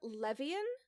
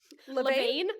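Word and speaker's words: Levien: Sonia Levian, I believe is how it's pronounced. So, Levane, like Levine potentially.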